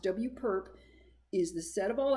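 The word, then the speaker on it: W⊥: in W so here's the actual mathematical definition W perp that's how it's pronounced W perp is the set of all X in RN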